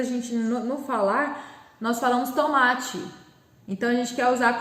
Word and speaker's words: tomate: O ma, então, aqui é a minha sílaba de tom mais forte, é a penúltima. Então, tomate finaliza com E. Apesar de, na sonoridade, quando eu falo tomate, eu quero colocar com I no final exatamente por isso.